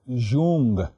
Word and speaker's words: Jung: j u n written as Jung L it's pronounced as Jung who trained who studied medicine actually his father